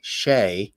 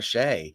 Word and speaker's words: Shea: was my namesake and it's spelled the same way so people knew how to pronounce my last name I still call it